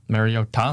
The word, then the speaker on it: Mariota: Great performance by Mariota. No, Mario Ta. Mario Ta. You're not saying it right. It's Mario Ta.